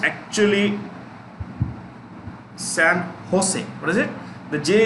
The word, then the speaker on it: San Jose: headquartered in a place called san jose it's pronounced actually sam jose what is it the jay is pronounced within